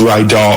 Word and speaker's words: Rydall: But my first question, it's pronounced like it's Ry Doll.